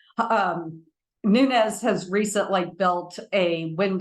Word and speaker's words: Nunez: are Louisiana so yes we say it Nunes I'm not mispronouncing it it is not nunz um Nunes has recently built a